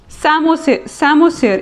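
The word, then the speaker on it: psammosere: सैमोसियर, इसमें P silent होता है.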